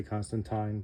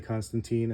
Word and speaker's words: Constantine: John Constantine was introduced some people will say Constantine but I believe that uh Americans say Constantine and Brit people British people say Constantine but anyway this is